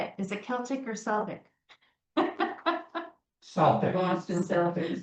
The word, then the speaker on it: Celtic: I said, "So, how do you say it? Is it Celtic or Celtic?" Because I say Celtic because Irish. My husband's Irish. You got to say it Celtic.